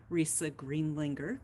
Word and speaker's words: Risa Greendlinger: I do have an almost impossible name to pronounce. It's actually Risa Greendlinger, crazy Austrian name.